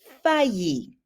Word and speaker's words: faillir: throw in the word fayi the hardest thing about that is just remembering how to pronounce it so those two L's are going to sound like a y okay so and then